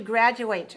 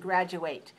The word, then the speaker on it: graduate: When we use this as a verb, we pronounce ate just like ate, like the verb ate. Educate. For example, graduate. When you say, I'm going to graduate from Mission College, that's a verb.